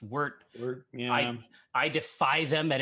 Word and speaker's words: wort: We're going to introduce some grains into a machine that transform those grains into wort, which my eldest is always telling me should be pronounced wort.